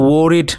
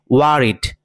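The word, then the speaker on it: worried: ওকে, এই শব্দটির উচ্চারণ কিন্তু ওয়ারিড নয়, এটাকে আমরা সবাই ভুল উচ্চারণ করে থাকি। এই শব্দটির উচ্চারণ হবে ওয়ারিড, ওয়ারিড।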